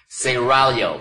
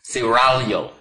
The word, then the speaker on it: Seraglio: Pronounce it Seraglio. I gotta roll the tongue, excuse me. Seraglio.